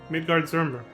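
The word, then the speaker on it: Midgardsormr: um mentioned midgard swarmer did you see the way he pronounced it that's probably the way you're supposed to write midgard zurmber now picture that was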